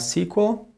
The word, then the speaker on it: SQL: Oracle databases or Microsoft sequel you know ms SQL SQL is usually pronounced as sequel ms sequel my sequel